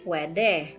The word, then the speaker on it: pwede: So, pwede. Okay. You say pwede.